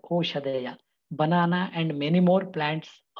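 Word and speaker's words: ओषधयः: The third classification is Oshadhaya. Please remember, it is pronounced as Oshadhaya, not Aushadhaya. Aushadhaya is different.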